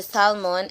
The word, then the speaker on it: salmon: They order the salmon and pronounce the L.